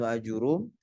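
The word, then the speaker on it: آجُرُّوم: atau tarjamah Al-Imam Ibnu Ajurum dikatakan ejaannya ajurum, ro-nya didomah ya bidomir ro. Naam, laisa bi fathir ra, bukan dengan difathahkan ro-nya.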